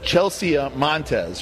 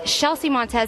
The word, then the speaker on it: Chelsea Montes: first place we have Chelsea Montes right a Houston did I say her name right you know what it's shelsea montz and actually I got